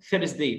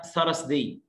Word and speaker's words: Thursday: الخميس اسمه ثيرس داي، مش حاجه اسمها ثرس داي، ثرس ده مرض، تمام، اليو ار هنا بتعمل صوت الاير ساوند، يبقى ثير، بس ثير، ثرس داي، مش حاجه اسمها ثرس، ثيرس داي، ثرس داي، ثرس داي.